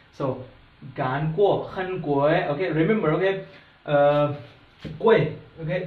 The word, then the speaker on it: 贵: 贵, okay, there's the 4 tones, so if we are pronouncing it, remember, make it very very shorter, okay?